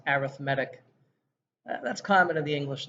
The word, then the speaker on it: arithmetic: with four vocabulary phrases this word here is being used as an adjective so it's pronounced arithmetic that's common in the